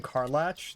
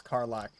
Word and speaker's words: Karlach: I keep pronouncing your name Karlach. It's Karlach.